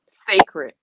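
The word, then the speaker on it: Cécred: um what is it called sacred sacred and it's not spelled like that but it's called sacred and if you want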